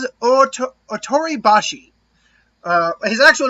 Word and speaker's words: Ōtoribashi: How do we pronounce it? Ōtoribashi.